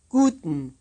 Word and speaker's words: guten: this is the word that you'll be asked to memorize in the dialogue to follow listen and repeat make sure you round your lips guten guten stage two comprehension